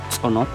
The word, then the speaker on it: cenote: Well, here in Yucatan Peninsula, the caves are called more cenotes, coming from the Mayan language actually, but pronounced it's actually sonot, which means sacred door, sacred entrance.